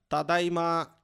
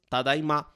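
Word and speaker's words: ただいま: normal dele é apenas tadaima. Só que nós temos esse traço no final para ele dar um pouco de sentimento, né? Indicando que ele está prolongando essa última sílaba. Ele está falando tadaima, né?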